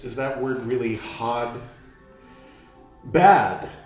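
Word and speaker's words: ba'd: Bad. Well, bod, B-A-D, apostrophe.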